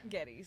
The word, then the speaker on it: Geddes: Geddis.